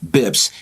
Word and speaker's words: bps: basis point really we we shortened it to bps but then we pronounce it bibs basis points refers to